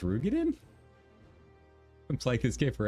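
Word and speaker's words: Roegadyn: Erugadin? It couldn't be... It's pronounced Rugadin?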